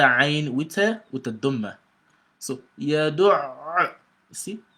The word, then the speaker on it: يَدُعُّ: the ayn very well, you've got to assume you're pronouncing two ayn. One ayn with sukun, afsaku sukun, another ayn with the dhamma. So yadu', see, yadu'.